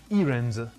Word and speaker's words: errand: Errand, errand, or errand, or maybe errand? It's errand. Errand. Errand. The first syllable is stressed.